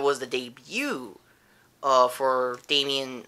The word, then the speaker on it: Damian: the debut uh for Damian not Daman I keep saying he